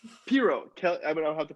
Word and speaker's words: Piro: You can really call me anything, but it's Piro. Piro.